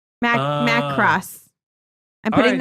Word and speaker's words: Macross: Is it Macross Plus?